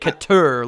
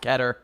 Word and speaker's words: Keter: I always say it keter, like a tur at the end, which is still wrong, so I just stick with keter.